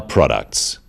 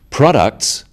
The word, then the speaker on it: products: The wrong stress makes it hard to understand. So, conclusion, not conclusion. Products, not products.